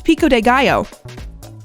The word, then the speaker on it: pico: of them couldn't make no I know it's Pico I know it's that the